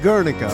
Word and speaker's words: Guernica: Guernica, so it's pronounced Guernica, okay.